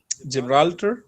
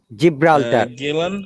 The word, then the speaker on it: Gibraltar: basic rule muhammad that after this we should sound like okay j so soft g we call it okay yes then gibraltar gibraltar gibraltar gibraltar jillian anderson